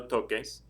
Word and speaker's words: toques: to spell it, and if you find yourself writing T-O-C-E-S, that would be pronounced no toses. But we're going to keep the k sound in there, so it'll be no toques with the Q-U-E-S.